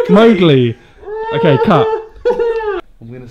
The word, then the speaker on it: Mowgli: Mowgli.